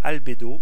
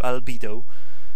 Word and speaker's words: Albedo: Alors il y a une map qui s'appelle Albedo ou Albedo, si vous voulez le prononcer à la française, ça m'est égal.